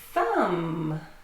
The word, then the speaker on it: thumb: Thumb. Yeah, thumb also ends in MB and the B is silent.